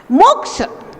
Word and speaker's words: मोक्ष: मोक्ष, यहाँ पर ध्यान रखेंगे, छा क्षत्रिय वाला जिसको अपन बोलते हैं, ये कातंत्र व्याकरण का एक सूत्र है, कस योगे क्षा। ये छा आधा का और षटकोण वाले सा से मिलकर के बना है, तो जब हम इसका उच्चारण करेंगे तो का उच्चारण और षटकोण वाले सा का मिश्र उच्चारण होना चाहिए। मोक्ष, मोक्ष, मोक्ष, मोक्ष, हाँ ऐसे।